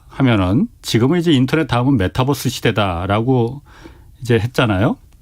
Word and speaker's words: 메타버스: 네, 그래서 사실 혹자들은 메타버스 이러시는데 사실 발음을 이제 원어민으로 하려면 메타버스라고 하시든지 아니면 그냥 한국식으로 메타버스 정도 이렇게 하시는 게 맞을 것 같습니다.